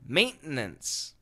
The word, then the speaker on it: maintenance: is it true that perfect pronunciation is three syllables and the fast pronunciation is two syllables yes that's absolutely true